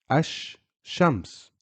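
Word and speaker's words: الشمس: the final word Ash which means the sun Ash Shams I'm not saying Al is for words that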